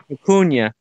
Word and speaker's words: vicuña: Vicuña.